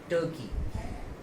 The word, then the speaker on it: Turkey: Okay, कई बार तो कई लोग इसको तुर्की बोल देते हैं। ओके, तुर्की हो सकता है हिंदी में ठीक हो, बट इंग्लिश में देखेंगे तो हम इसका सही प्रोनाउंसिएशन होगा टर्की।